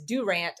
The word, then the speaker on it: Durant: And I hope everybody that's listening that heard me say that, I did say it correctly, because some people say Durant, but it is Durant, Oklahoma.